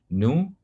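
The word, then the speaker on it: ν: Ini bacanya nu, ya.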